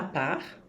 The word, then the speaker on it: part: En ce qui me concerne, en ce qui me concerne, ou pour ma part, sem pronunciar o T, tá?